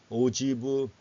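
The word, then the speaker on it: ogive: 누적 백분율 곡선 해가지고 자, 이거 읽을 때는 오지브라고 읽어요. 오지브, 프랑스트 오지브 이렇게 읽습니다. 오지브.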